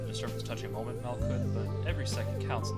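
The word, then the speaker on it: Malkuth: So this one is Malkut. Like, Mal, M-A-L. And then the H is kind of denoting that it's a hard sound, so it's Kut instead of Kuth.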